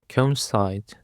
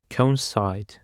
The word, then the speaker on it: coincide: Conside. The stress is on the last syllable. Conside.